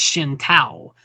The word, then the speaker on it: Shinto: And as a matter of fact, going back to talking about the Chinese language, it could actually be pronounced Shin Tao.